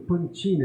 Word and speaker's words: Pancini: João Batista Pancini. Isso, falou de um jeito muito bonito, Pantini, que É, era a pronúncia correta.